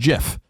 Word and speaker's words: GIF: pronunciations they are wrong it is a soft G pronounced GIF end of story end quote you hear